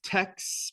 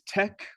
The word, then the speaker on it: TeX: A lot of people pronounce this as TeX, pronouncing the X here like an English X, but the cool way to pronounce it is tech, like technology.